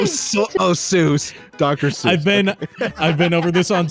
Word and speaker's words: Seuss: to ruin your day, Dr. Seuss, according to all the people that knew him in real life, didn't pronounce Seuss as Seuss. He pronounced it Seuss because it's a German name.